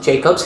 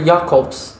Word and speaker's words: Jacobs: He doesn't pronounce it Jacobs. His name is Dr. Jacobs.